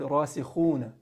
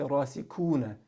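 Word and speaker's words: راسخون: Instead of saying, if they're pronouncing the word rasikhuna, they'll say rasikuna, because kha doesn't exist in the English language.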